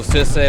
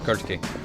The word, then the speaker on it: Kirke: So Circe, but actually pronounced good, you know. Actually pronounced like an ancient Greek food, so Kirke.